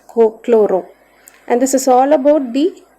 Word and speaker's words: chloro: Then followed by chlorine instead of chlorine we have to pronounce it as cooro and this is all